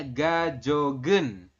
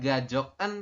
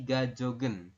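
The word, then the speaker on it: 가족은: itu artinya adalah keluarga kemudian ada partikel e berarti kan gioknya nanti naik ke sini maka dibacanya gajogen Bukan gajoken tapi gajogen jega jogen keluarga saya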